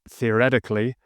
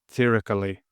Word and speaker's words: theoretically: difficulty with, the adverb theoretically. Some people don't pronounce the second T, so they say theoretically.